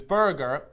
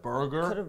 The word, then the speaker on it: Berger: Now, this Berger is spelled B-E-R-G-E-R, so it's like Berger. Instead of burger, it's Berger.